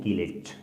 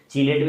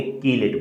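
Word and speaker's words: chelate: है, इसी चीज को बोलते हैं कीलेट। चीलेट भी बोलते हैं, अपनी अपना प्रोनाउंसिएशन है दोस्तों, कीलेट बोलते हैं इसको। क्या बोलेंगे, कीलेट बोलेंगे।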